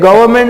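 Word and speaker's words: government: रही है देखो ये गवर्नमेंट में आर को साइलेंट रखना है गवर्नमेंट नहीं होता गवर्नर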